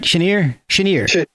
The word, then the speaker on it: Chenier: Like I saw that your grandfather Buchanan played drums with Clifton Chenier. Did I pronounce that right? Chenier, yeah.